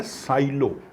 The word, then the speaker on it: silo: तो इसी के साथ में मिला जुला वर्ड है साइलो, SILO। इसको प्रोनाउंस करते हैं साइलो, ऐसे हिंदी में लिखना